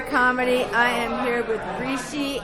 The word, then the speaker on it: Rishi: No, it's like Rishi is like Richie, but feminine. Instead of the C, it's an S.